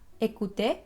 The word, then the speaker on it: écouter: Y entonces la primera situación en que vas a pronunciar E es cuando la E tiene un acento aigu. En francés, l'accent aigu. Y este acento lo puedes encontrar al principio de una palabra como en la palabra écouter, que es escuchar.